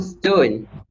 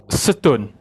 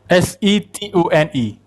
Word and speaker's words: Setun: Oh, CEO Stone. Wait, are you serious? Stone are his names? No, Dato. It is Setun. Setune is the way you pronounce it, Dato.